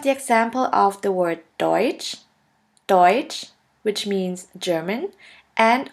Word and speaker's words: deutsch: letter combination is t s which is simply pronounced like a ch in english here we have the example of the word deutsch deutsch which means german and of the word